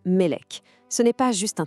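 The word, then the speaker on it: מלך: Prenez le mot hébreu pour roi qui se prononce Melek.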